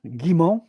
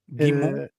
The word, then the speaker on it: Guimont: Don't pronounce the T. Guimont. Guimont. Yeah, I like saying that. Guimont.